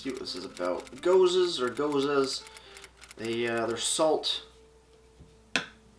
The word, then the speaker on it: Gose: We have their new Radical Gose Salted Lime Gose. Goose? I think it's called a Gose, or Gose, I forget exactly.